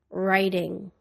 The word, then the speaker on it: writing: silent P psychology receipt the silent W writing wrong the silent k knife